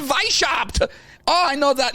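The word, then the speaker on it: Weishaupt: say that's his name why shopped Vice helped oh cause it's yo because it's German yeah I get to speak like this the whole time even nothing Vice chopped oh I know that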